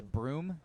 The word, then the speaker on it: Broome: You say Broome? Broome County, B-R-O-O-M-E. I'm assuming the E is silent.